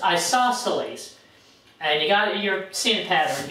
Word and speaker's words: isosceles: Remember, that's pronounced isosceles.